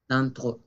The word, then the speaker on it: d'entre: Por certains d'entre, nasal d'entre, y la E francesa, d'entre.